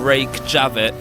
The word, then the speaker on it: Reykjavik: So we have just arrived in the capital city of Reykjavik. Yes. Yes, we What a have. fantastic pronunciation.